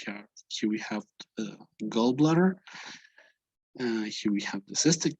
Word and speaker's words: gallbladder: the liver the gallbladder notice the pronunciation it's not an a it's gallbladder it's between an a and an o gallbladder okay this would be